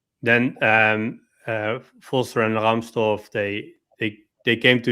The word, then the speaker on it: Rahmstorf: Let me pronounce it in German. Um Stefan Rahmstorf.